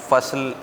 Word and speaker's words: فصل: فصل انہوں نے بولا, فصل ہوتا ہے, فصل نہیں ہوتا.